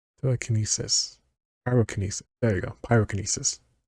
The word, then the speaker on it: pyrokinesis: Pyrokinesis. I have to say telekinesis to remember how to say the kinesis part.